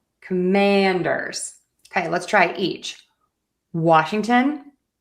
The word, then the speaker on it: Washington: Often times when we have a place name that ends with T O N, we are going to pronounce it as ton.